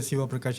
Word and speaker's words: Sivaprakash: So the right pronunciation is Dr. Shiva Praash.